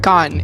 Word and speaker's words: Gane: Um, Gan is the last name.